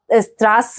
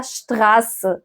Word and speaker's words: Straße: زي كلمة شتراس. دي شتراس. زي ايه تاني برضو؟ زي شبوت. ما بقولش سبوت، ما بقولش ستراس او كده، اسمها شتراس.